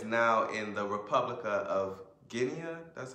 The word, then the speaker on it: Guinea: And next he talks about the Baga people in what is now in the Republic of Guinea. That's how you pronounce it.